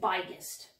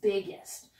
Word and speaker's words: biggest: G, I would say biggest. That's not going to work. I need to put two G's there so that I'm pronouncing this as a short I, biggest.